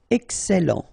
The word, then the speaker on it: Excellent: Remember, double L and E before, it will open the E, so E. Excellent.